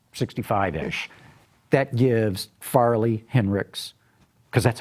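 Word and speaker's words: Hinrichs: say it's just 65 ish that gives Farley Henrik's because that's how he pronounces it everyone says Heinrichs but he had arrested me Henrik's and and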